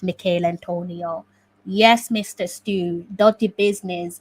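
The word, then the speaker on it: Michail Antonio: get the name wrong i've heard the commentators say michael antonio instead of mikhail antonio yes mr stew dirty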